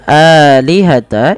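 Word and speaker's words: آلهة: Suara lam ya Kemudian pada lafal alihata ini jangan dibaca pendek ya teman-teman Meskipun dalam rasamnya seperti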